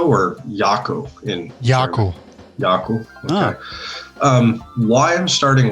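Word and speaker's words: Jako: Sasha, is it pronounced Jacko or Yako in Yako? Yako.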